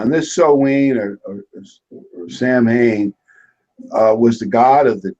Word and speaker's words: Samhain: and it does it's so Wayne or so Haines or something like that it's strange it's not like how it's spelled yeah on this so we know Samhain was the god of